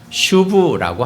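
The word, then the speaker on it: שוב: 회개한다는 말은 구약 성경에서 어 구약 성경 히브리어 발음으로 슈브라고 합니다.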